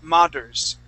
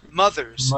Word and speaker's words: mothers: But mothers here, you had said mothers, pronouncing a d sound. So let's practice that th, mothers.